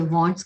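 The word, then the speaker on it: Wands: मैं इसे वैंड्स कहती हूँ, कोई लोग इसे वॉन्ड्स भी कहते हैं. वैसे वॉन्ड्स करेक्ट प्रोनाउंसिएशन है, पर कई बार मैं इसे वैंड भी कह देती हूँ.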